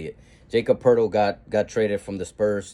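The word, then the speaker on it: Poeltl: Jacob hurdle that's how you say it Jacob Purtle got traded from the Spurs to the Raptors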